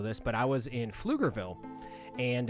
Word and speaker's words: Pflugerville: Yeah, oh yeah, Pflugerville starts with a P. PF, it has a silent P at the beginning of Pflugerville.